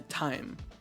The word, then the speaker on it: thyme: or thigh no the time time it's called time so we're spreading the time of time so the hur the herb you're talking about t-h-y-m-e it's pronounced time time time time yeah